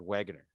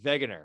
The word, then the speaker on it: Wegener: old now back to alfred wegener all right or wegener if you want to pronounce the name correctly hess versus wegner wegner